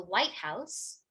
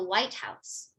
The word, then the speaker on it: White House: So for example, if I'm talking about the White House, white will receive more stress than house. It's the White House. But if I say something like, I walked into the White House, where it's just a